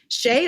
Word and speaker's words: Shea: actually quite good and it's easy to pronounce sheay is fine now because of shea butter on commercials but before that as